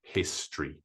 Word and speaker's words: history: answer is history two there are two syllables in history the way we prounce it normally is history next question how do